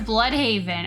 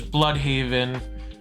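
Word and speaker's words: Blüdhaven: is Dick Grayson AKA Nightwing never heard of bloodhaven I know you've you've told me a lot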